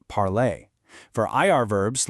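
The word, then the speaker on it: parlé: For your ER verbs, like parler, you chop off the ER and add an E with an accent to get parler, pronounced parlay.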